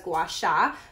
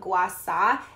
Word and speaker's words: Gua Sha: I'm sure you've seen it or maybe you pronounce it as Gua Sha, but it's actually called Gua Sha, and it's an ancient